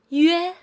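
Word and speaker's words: üe: This final is pronounced as yue, yue. It's the combination of yu plus e, like yi in bed.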